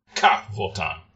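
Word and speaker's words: Ka'Vothan: So Cavotan is the race. Okay, cool. How do you spell that? It's Ka apostrophe Vothan. So I'm not doing the glottal stop well enough, I suppose. You're good. Cavotan.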